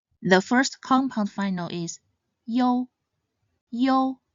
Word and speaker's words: iu: They are you, yong, yin, and ying. The first compound final is yo. Yo sounds similar to the yo in yo-yo.